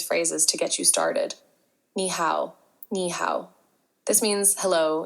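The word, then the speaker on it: 你好: It's actually pronounced ni hao, pronounced like ni hao.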